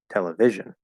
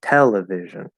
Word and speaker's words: television: case it's it's television if we put it on V it's going to be television television not how we say it we say television television okay um so that first syllable really needs to stand out no matter what the